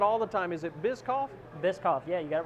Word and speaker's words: Bischoff: It's just the CH in there. Everybody wants to see that and go shh, you know. So it's silent. It's silent. So it's Bischoff, which I'm used to it.